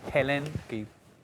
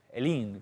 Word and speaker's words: Helene: los huracanes estos duplicados, el Helene, Helene, que lo pronuncian ahí, y Milton, y leí